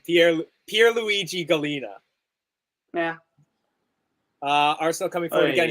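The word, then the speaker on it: Pierluigi Collina: Right, let's try and pronounce that. Pierpont Luigi Galina. Yeah, I was gonna say Pierpont. I don't think his name. Pierluigi Galina.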